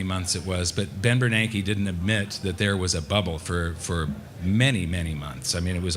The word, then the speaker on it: Bernanke: I called him Bernanke, not Bernanke.